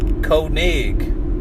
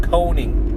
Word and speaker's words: Koenig: Or the other road that they say is Koenig Road. That's the proper way to say it. But people down here call it Koning.